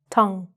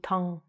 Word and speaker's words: tongue: It looks like tongue, but it's actually just tongue. So practice that first. Tongue. Don't say the U or the E. Just say tongue.